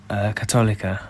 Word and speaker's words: Católica: Católica.